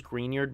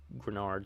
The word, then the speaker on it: Greenard: lost uh Jonathan grenard I thought it was greenard but at least from one of the football YouTubers I watched they pronounce it grenard so I guess that's that's my bad then but they had those